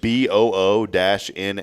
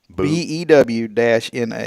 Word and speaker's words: Buna: Did she enunciate like BOO-NA, like Buna? BEW-NA. That's it. Oh, then it's Buna. So it is Buna. BEW is pronounced Bew.